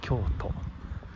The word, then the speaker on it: 蕎都: か、そば京都、このそばのそって書いて京って読むんだね。